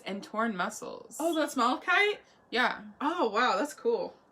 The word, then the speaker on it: malachite: Oh, that's malachite? Yeah. Oh, wow, that's cool. Yeah. So malachite. Yeah, we're saying it right. Malachite.